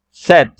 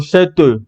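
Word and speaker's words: cette: con doble de T set pronunciamos hasta la t porque la e al final es muda la e no se pronuncia Yo no digo set no solo set hasta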